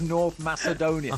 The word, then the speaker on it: Macedonia: This is what Wayne Gretzky was listening to when someone says this is how you pronounce North Macedonia. Soft sea, Wayne. It's a soft sea.